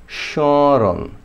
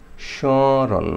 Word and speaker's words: স্মরণ: 1 নম্বর নিয়ম, যদি শব্দের শুরুতে মফলাযুক্ত থাকে তাহলে আপনার মফলার উচ্চারণ হবে না, হবে একটু নাসিক, মানে নাকের সাথে মিলাইতে হবে। এইটার উচ্চারণটা কীরকম হবে? স্মরণ, স্মরণ, মানে নাকে হালকা বাজবে, শয়ের উপরে হালকা নাকে বাজবে, স্মরণ।